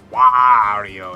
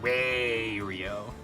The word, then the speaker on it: Wario: Mario is wrong and it's Wario it's not way real obviously how much more